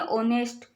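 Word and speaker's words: honest: ठीक है, तो इसमें आपको क्या करना है, इसको जब हम पढ़ते हैं तो इसमें एच साइलेंट होता है, इसको हम पढ़ेंगे ऑनेस्ट।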